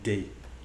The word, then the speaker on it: de: be je n'ai pas de bananes. Quick pronunciation note at this point, and that is de is often shortened to a simple D sound that can be very difficult to catch for French learners.